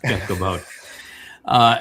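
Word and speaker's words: כבוד: They'll make it because it's a B, they turn it into a V.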